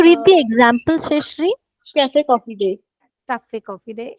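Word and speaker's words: café: Exception 1, if a word ends with E and this matra over it, we do pronounce it. Cafe. A ki matra. Cafe.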